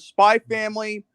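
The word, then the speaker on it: Spy × Family: So it's Spy Family. The Code X is White. silent. It's just like Godzilla Kong. The X is silent.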